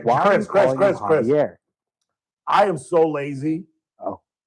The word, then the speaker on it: Xavier: Because I used to call him Xavier, and the folks corrected me, and I listened, and in fact, it is pronounced Javier. He pronounced it Javier.